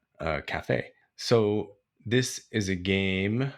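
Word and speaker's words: Café: Cafe actually it's called Cafe as in coffee the Spanish pronunciation uh Cafe so this is a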